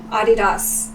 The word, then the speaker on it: Adidas: Also, just like in America we say Adidas, but actually in Germany it's the name of the guy who invented Adidas. It's Adidas, and that's how you're supposed to pronounce it.